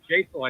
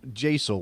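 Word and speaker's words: Jaissle: I was looking something up about Matthias Jasel, I think is how it's Jasel. Okay. Is how it's pronounced, so maybe. I'm surrounded by too much Spanish. My brain wants to turn the J into an H all the Yeah, time. no, Yeah, so it's Jasel, we think.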